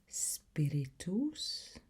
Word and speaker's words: spiritus: Spiritus. The U sounds. The U sound is an O sound rather than an A sound.